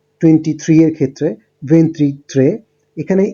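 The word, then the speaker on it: ventitré: তো আপনারা দেখতে পাচ্ছেন, একটু আমরা দেখেছি 21 এর জন্য উচ্চারণটা হচ্ছে ভেন্তুনো, 22 এর ক্ষেত্রে ভেন্তিদুয়ে, 23 এর ক্ষেত্রে ভেন্ট্রিত্রে।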